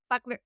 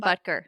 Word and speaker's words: Butker: And again, like, it sounds like that's topical right now because of the whole Harrison Buckler I never could say his name right. Harrison Butker. Butker.